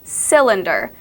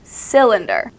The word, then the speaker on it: cylinder: now we have cylinder this is the Y sound that actually sounds like an i it sounds like the word cylinder would be spelled with an i as the second letter but it is not it is a y cylinder now we have try